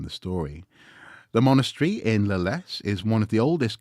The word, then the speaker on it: Leles: The village of Leles is pronounced straightforwardly as Leles.